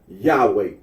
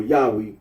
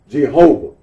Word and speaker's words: Yahweh: andology of the name the form Yahweh or Yahweh is now accepted almost universally among biblical and Semitic linguistic Scholars though the vocalization Jehovah continues to have wide use the books of the